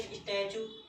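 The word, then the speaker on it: statue: और जैसे स्टैचू, यहाँ पर टी के बाद यू आ गया है, इसका भी उच्चारण स्थान हम क्या पढ़ेंगे, चा ही पढ़ेंगे।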